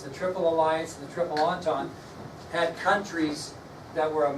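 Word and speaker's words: Entente: the other one was the triple and doesn't sound like it at all it's not spelled like it triple entendre pala Alliance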